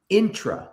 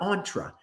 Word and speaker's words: intra: I want to start with this intra, not entra. It's spelled intrapeneurship.